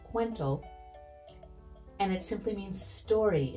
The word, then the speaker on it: Kuwento: it's fairly elegant and fun Kento is actually pronounced quento and it simply means story in Filipino and